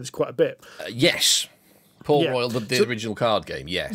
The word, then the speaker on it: Port Royal: Oh, it's Port Royal. I've been pronouncing it Port Royale for freaking years.